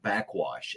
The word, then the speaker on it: Backxwash: And I was delighted and treated well this week when I discovered the artist Backwash, and it's spelled Backxwash.